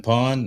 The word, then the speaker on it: Pwned: I've been pawned. I think, yeah. Have I been pawned? That it doesn't, it's spelled weird, PWNED, but that actually is